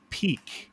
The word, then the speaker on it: Pique: the market uh with the app peak and that is spelt p-i-q-u-e and so i'm really excited